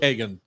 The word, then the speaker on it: Hagen: Is it Hagen or Hagen? So we call it the way you pronounce Copenhagen. So it's like either Copenhagen, which is the Danish way, or you can say Copenhagen.